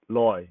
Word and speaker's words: 來: light or is it loy so when we read it it is pronounced loi but when we say it it's pronounced li they with an e